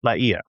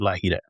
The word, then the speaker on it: La Hire: The name should be pronounced Laia, not La-hee-da.